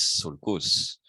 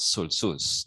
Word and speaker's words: sulcus: So singular is sulcus. No, it's not sulcus. No, it's sulcus.